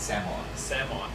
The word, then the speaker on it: Samoa: is a unorganized us it's not pronounced samoa that would be incorrect it's samoa yes okay and i